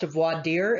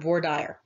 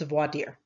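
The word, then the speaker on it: voir dire: vordiar is actually pronounced voideer it is a french term but because i went to school in texas everybody pronounces it here vordyar but if you go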